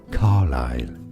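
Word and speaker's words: Carlyle: Say it as carile. Stress on the first syllable.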